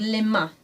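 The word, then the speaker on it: mains: body these are called limma the hands and there's a very nasal sound at the ending of that word so if you listen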